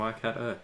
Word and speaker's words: Waikato: Waikato. There you go. Waikato.